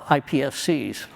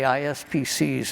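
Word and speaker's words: iPSCs: I'm going to tell you about half the time I say it wrong. I do. I say ISPC's and people correct me.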